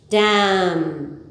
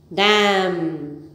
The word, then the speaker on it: damn: repeat it with me crumb num succumb aplomb damn once again crumb num succumb at long damn okay so either both a inning curry silent